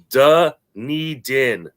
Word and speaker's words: Dunedin: uh correcting my pronunciation it is da needin dunedin all right there we